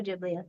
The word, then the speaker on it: Ghibli: As a young age, she watched Spirited by, and I'm going to pronounce this wrong, Studio Jibal Gibli. Studio Jibli. Spirited Away by Studio Jiblio.